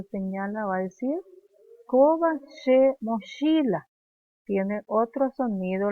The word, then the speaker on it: che: Ella cuando señala va a decir Koba she mochila. Tiene otro sonido, la CH en guaraní no se pronuncia como en castellano, mochila.